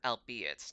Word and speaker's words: albeit: The archaic word albeit does not rhyme with eight, you see it.